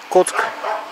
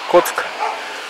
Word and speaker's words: Kock: Коцк. Пишется Кок. Нет, он сюда Кок. Петух. Коцк.